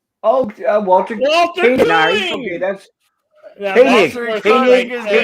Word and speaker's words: Koenig: just so you guys know, he pronounced it Koenig. Koenig, okay. Like the German coffee, Koenig.